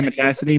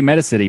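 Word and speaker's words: Metacity: change anything on the is it meta city or Matassa t how do you pronounce that matter I like to say Matassa D but I don't think they've ever actually specified which one as well I but most people say meda city but Matassa T sounds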